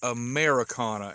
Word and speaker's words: Ameraucana: it but believe it or not it is americana and that is spelt a m e r a u all